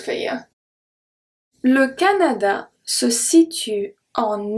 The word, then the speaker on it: situe: Se situe, situe. The E at the end is silent.